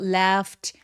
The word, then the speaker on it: laughed: GH는 F로 발음합니다. 여기서는요. 그래서 left 라고 길게 발음하기.